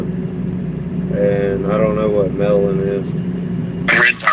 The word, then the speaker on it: Mellon: Am I pronouncing that correctly? Mellon. Is that a history? You're a teacher. Yes, it's Mellon.